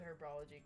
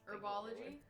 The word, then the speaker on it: herbology: classroom and get this herbology herbology did you see herbology it is herbology is it not herbology no it's herbology cuz it's herbs it's herbs it's herbs herbology it's herbs the H is silent and herbs don't be